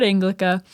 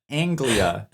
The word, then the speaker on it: Anglia: to say uh Ford anglica am I saying it wrong no it's Anglia there's no C in it Ford Anglia no wonder I